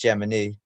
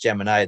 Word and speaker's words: Gemini: which pretty much laid to rest, that it's pronounced Gemini. But so many of us are used to it, being pronounced Gemini, that I'm just going to pronounce it Gemini throughout the presentation, unless there's any objections.